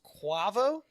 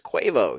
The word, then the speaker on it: Quavo: Uh I believe it's pronounced Quavo. No, it's Quavo.